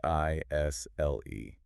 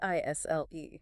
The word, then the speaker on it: aisle: i s l e a i s l e Isle Isle yeah that silent s yeah it sounds exactly like Isle so it can be confusing for sure especially for someone learning English absolutely and to be clear